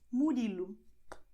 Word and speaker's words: Murilo: For instance, when you have Murilo, you have the letter O here at the end. You're going to pronounce as U, as I told you, Murilo, and you are done, okay?